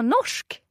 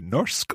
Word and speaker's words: norsk: Bra, Norsk.